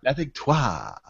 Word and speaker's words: La Victoire: If I was to give it a proper French pronunciation, I would say it's Le Victoire. Le Victoire. La Victoire.